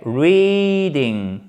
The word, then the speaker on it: reading: Ici, vous avez un I long, ok? Reading, exactement comme dans speaking, avec l'accent tonique qui se trouve évidemment sur la première syllabe.